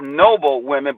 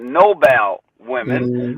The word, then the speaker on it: Nobel Women: call the you would see it written as Noble women but they pronounce it Nobel women right and so that's also black women from